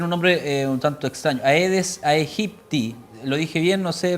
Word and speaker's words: Aedes aegypti: No, bueno, la especie se pronuncia Aedes aegypti, pero igual no hay mucha diferencia. En Brasil se pronuncia de una manera y en países que hablan español de otra.